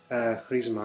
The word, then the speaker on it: Chrisma: out on reissue, called Chrisma. It's a Greek word, so I put in my Greek pronunciation there. Chrisma, and they're quite good actually.